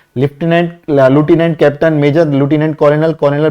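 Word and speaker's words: lieutenant: बात करें वेतन की, तो जब आप 12th में इसमें सेलेक्ट होंगे तो आपकी पहली पोस्ट, कुछ लोग इसको लेफ्टिनेंट बोलते हैं, कुछ ल्यूटिनेंट बोलते हैं, करेक्ट प्रोनाउंसिएशन लूटिनेंट है।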